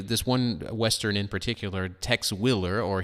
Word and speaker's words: Tex Willer: one western in particular Tex Willer or here pronounced text wheeler and it was created